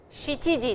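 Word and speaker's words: 七時: Sanji desu, yoji desu, goji desu, rokuji desu, shichiji desu, hachiji desu, kuji desu, juji desu, juichiji desu. 12時 desu. Please pronounce these two, yo and shichi, as is written over here, and not yon or shi or nana.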